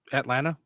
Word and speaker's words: Atlanta: It doesn't have a second It doesn't have a second T in it. That's I don't I swallow that though. Usually I there I didn't say the second T.